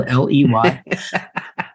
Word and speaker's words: Ley: And even though my last name sounds like getting laid, it's spelled Ley.